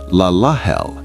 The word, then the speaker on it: Lelahel: Pronounced Laahel.